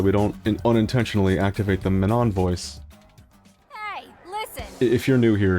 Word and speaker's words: Manon: But Manon technology, that's us. That's how it's supposed to be pronounced. Please stop saying Manon. It's wrong. You're wrong.